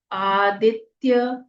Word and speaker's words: आदित्य: ओम अस आदित्य हृदय स्तत्रस्य अ आधा स य पूरा अस्य आदित्य य पूरा है आ दीर्घ है द में छोटी इ की मात्रा ह्रस्व जाएगी आधा त आदित्य य आदित्य ह में